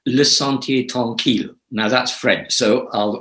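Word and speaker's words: Le Sentier Tranquille: one okay well the retreat center is called lasanti tonkil now that's french so i'll i'll spell it l e s e n t i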